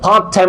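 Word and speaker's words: part-time: তখন একটা উচ্চারণ করবা ডাবলটি যখন আসবে তখন একটা উচ্চারণ করবা একসাথে পড়ে ফেলবা ঠিক আছে যেমন ধর পার্ট টাইম জব লিখ পাটাইম আছে পাটাইম এইযে পি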